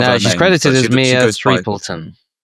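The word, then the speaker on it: Threapleton: Um Mia, uh I don't want to call her Mia Winslet, which is part of she's credited as Mia Threton. Threeton.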